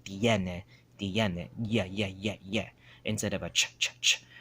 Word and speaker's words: tiene: They say chene, right? It's three syllables, tiene, tiene, right? Tiene, but they'll say chene. They'll just make it as one or two syllables instead of three. They'll shorten it, tiene, instead of, they'll say chene instead of tiene.